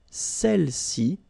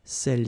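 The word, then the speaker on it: celles: all right feminine plural Cel okay don't pronounce the final s Cel s all right so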